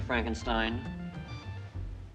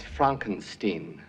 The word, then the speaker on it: Frankenstein: Even to the point he would rather have his last name pronounced differently. I have one question, Dr. Frankenstein. That's Fronkensteen.